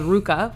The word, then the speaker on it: RVCA: a little clothing company called Ruka which RVCA many people spell that wrong and they don't know how to or say that wrong and they don't know how to say it so Ruka i'm where